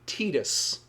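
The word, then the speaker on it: Tidus: But apparently the more literal Japanese translation, like the whole Aerys to Aerith thing, his name is supposed to be Tetus, which sounds like we're talking about a Tit.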